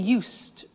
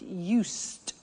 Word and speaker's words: used: So, I'm getting used to speaking Italian every day. Listen to the pronunciation. I said used with a T sound.